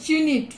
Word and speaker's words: unit: Before the word unit. Why? Because U is what? Is a vowel, but still we have used a. Why? Because this sound is like U. Y-O-O-U.